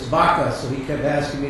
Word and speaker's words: Baca: couldn't pronounce my name he kept saying and I said it's vaka so he kept asking